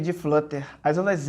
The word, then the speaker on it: flutter: Se escreve flutter atrial, mas você fala flutter, tá?